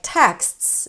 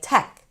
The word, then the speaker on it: texts: So, a word like texts might end up sounding like tech, just one one sound, not three.